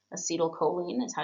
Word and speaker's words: acetylcholine: Acetylcholine is how you say it.